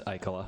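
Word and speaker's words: Ikola: draw your attention to Braemar Arena and the Icola Cup statue. So for those of you that know the Icola Cup, it's a... So we'll let you let that pass because you're from Minnetonka, but that's Icola.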